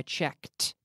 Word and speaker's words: checked: I check yesterday I checked I want to hear that tea I checked every day